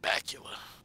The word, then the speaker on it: Bakula: Alright, nigga's name rhymes with Dracula. Alright, it's the dopest last name that I've heard in a while. It's Bakula. It's like Bat Dracula, Bakula.